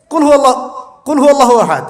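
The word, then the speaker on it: قل هو الله أحد: কুল হুয়াল্লাহু আহাদ, এটা কি সব একসাথে মিলে একটা শব্দ?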